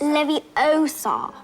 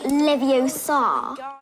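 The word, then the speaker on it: Leviosa: You're saying it wrong. It's Levi-Osa, not Levio-Sar.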